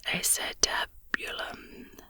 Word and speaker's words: acetabulum: how to pronounce this it is pronounced acetabulum acetabulum there you go a